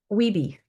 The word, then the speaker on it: WiBee: So, this you know, this WiBee, that's how you say it, WiBee, right? WeeBee. Yeah, we say it. WeeBee. WeeBee. Yep, WeeBee. So, the WeeBee, which is spelled w i b e e, the WeeBee app gets around this.